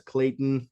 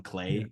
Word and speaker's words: Clayton: Tony Goldwyn as Tarzan, Minnie Driver as Jane, Brian Blessed as Clayton, which I always get his name wrong.